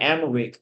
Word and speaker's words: Amharic: Most people of their first language, which is, I think you pronounce it Amharic, is very dominant, and so English wasn't as common.